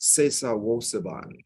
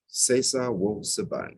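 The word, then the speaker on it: Sesa Wo Suban: It's pronounced Sesa Wo Saban, Sesa Wo Saban, and it means to change or transform your character.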